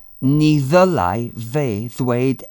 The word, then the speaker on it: ni: He is she or her, and ni, N-I, same pronunciation again, is us or we, or that can be a negative particle if the sentence is negative.